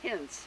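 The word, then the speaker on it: Hinz: name of the gravestone is what please h-i-n-z hints rudolph hints okay was the barber in haika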